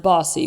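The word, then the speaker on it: BAWSI: Our acronym, B A W S I, is pronounced Bossy. We are Bossy Girls.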